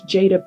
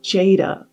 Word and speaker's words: Jada: in a song, and of course, the actress Jada Pinkett Smith. And it is now mainly used as a girl's name, and it's pronounced Jada.